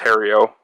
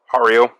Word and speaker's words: Hario: this bur Grinder from I think it's pronounced Hario Hario something like that um got this